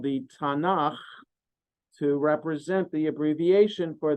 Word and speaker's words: Tanakh: one torahim kituvium creates an abbreviation that is pronounced Tana so in Hebrew the Jewish the Bible is called the Tanakh to represent the abbreviation for the three sections